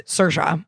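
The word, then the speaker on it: Saoirse: Cersa. Cersa. Cersa Ronin. Yeah, that's who I'm thinking of right now. She always goes, "Certa rhymes with inertia."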